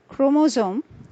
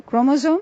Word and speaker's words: chromosome: The last three words in this list are pronounced as chromosome, scheme, and stomach. So chromosome, scheme, and stomach. Here are some more words having the CH digraphs and with silent H.